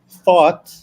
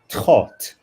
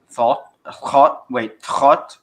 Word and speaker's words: Thoth: Also, if you want to join the links in By the way, another anecdote is that instead of thought, it should be said thought. Thought Instead of THOTH, thought.